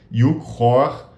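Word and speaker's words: Yuk Hui: Eu estou super interessado num trabalho de um filósofo chinês chamado Yu Hor, escreve Yukhui, mas a pronúncia é completamente maluca, né? Porque é cantonês.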